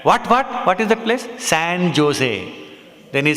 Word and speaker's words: San Jose: The J is said as, pronounced as H. So San Jose.